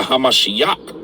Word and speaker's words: HaMashiach: is Anointed or oil so they're against the hamashiach that's how you say it in Hebrew so